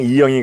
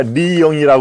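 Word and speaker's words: 리영희: 얘기입니다네 그리고 이영희 아 그는 항상 이영이 아니라 리영이 발음을 하죠 리영이 리영이 전 한양대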